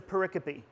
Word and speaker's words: pericope: It's spelled like pericope. But it's a pericope.